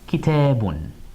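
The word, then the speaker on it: كتابٌ: They both represent tanween, that addition of a noon sound. So we get un at the end.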